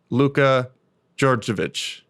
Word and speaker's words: Luka Djordjevic: to speak with him today welcome my guest luca georgeovich bravo you pronounce it correctly yeah awesome nice to have